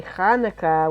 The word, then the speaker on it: Hanukkah: hanukkah there we go say it right if you want to impress your jewish friends say hanukkah with aha they won't be